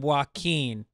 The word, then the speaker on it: Joaquin: Hugh O'Connor says, Joaquin Phoenix pronounces his name Joaquin. Yeah. I got about 25 people correcting my pronunciation of Joaquin.